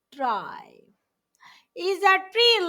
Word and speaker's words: trie: and child noes try a tri pronounced try is a tree like